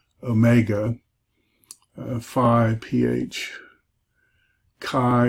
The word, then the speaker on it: chi: Then I do the last four together, phi, chi, psi, omega, phi, ph, chi, or you could do key, chi, like Christos is spelled with